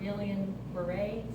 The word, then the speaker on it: Guillain-Barré: So you can go and read this chart, that plasmapheresis is done for Guillain-Barré, that's how you say it.